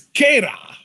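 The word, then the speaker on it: Keyra: It's Keita. All right. Spelled K-E-Y-R-A. Pronounced K-A-Y-R-A.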